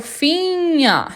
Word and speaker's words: Finger: depois do N, mas quando eles estiverem na mesma sílaba NG, o G é mudo. Então por isso que eu falo finha e o ER no final tem som de A.